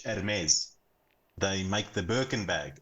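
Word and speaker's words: Hermès: I expected and then heres it's a silent h heres they make the birken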